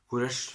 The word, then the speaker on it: Koresh: Jeg husker ikke helt hvordan det uttales. Koresh det uttales.